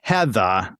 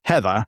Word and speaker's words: Heatha: out that this is Heather, Heather, not Heather. So, you know, some of us in New England don't pronounce our Rs, and I wanted people